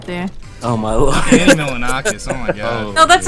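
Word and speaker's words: Milonakis: But reminded me of Andy Milaninois right there. Oh my lord. Andy Milanakis.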